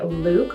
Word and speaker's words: Lewk: So it's spelled like look, but you exaggerate it and you say Lewk.